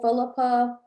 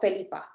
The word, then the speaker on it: Felipe: i think when i started correcting people how to say my name like if they're like oh philippa felipe no felipe and they're like oh and then i say it to them in spanish just like that and they're like oh